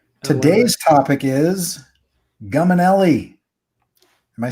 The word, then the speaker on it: Guminelly: jump into our topic today's topic is gum and le am I saying that right yeah okay you